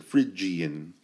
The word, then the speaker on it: Phrygian: looking word okay but think of the word fridge like you go to your fridge to get a snack fridge is how you pronounce a Phrygian and in just the